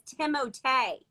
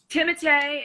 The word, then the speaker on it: Timothée: Somebody told me the other day I was saying it totally wrong, and his name is Timothée. Timothée is proper pronunciation, but Timmy is what we call him.